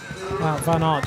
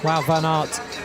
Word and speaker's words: Wout van Aert: Wout van Aert just tracking his way around those final sections.